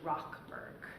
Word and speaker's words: Rochberg: pronunciation of his name it is actually Rock Berg like our Ock so now you're an